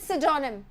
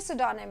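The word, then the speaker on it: pseudonym: और इसका प्रोनाउंसिएशन सोचिएगा, इट इज सिडोनिम, पी से स्टार्ट हो रहा है पर ये सिडोनिम है, ठीक है।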